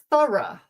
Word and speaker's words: thorough: Okay, so words where OUGH is pronounced thorough, thorough, and also borough, borough.